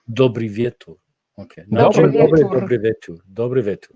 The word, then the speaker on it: Dobry wieczór: Dobry wieczór. Dobry wieczór.